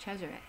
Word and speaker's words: Cesare: the way it's spelled I don't like the Americanized version of it but it's pronounced Cesare and I like that